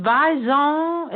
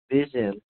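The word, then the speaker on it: Viiivon: at the New Mexico, is it Vizon? Is that how you say it? Vizon Dance Academy? I'm so awesome. It sounds like I need a croissant with that. But it's actually Vision, and it's VII, that's 3 I's, VON, Vision, and it's Vision Academy.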